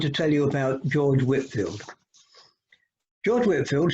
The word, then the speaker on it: Whitefield: tell you about george whitfield george whitefield spelt with an e but usually pronounced as whitfield was born on 16th